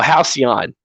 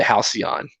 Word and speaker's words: Halcyon: Oh, Halcyon.